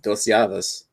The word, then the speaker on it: Llaves: Dos Llaves. Double L. I learned something new today with the double L is pronounced as a Y in Spanish.